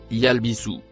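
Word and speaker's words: يلبثوا: Le mot violet se prononce yalbisu.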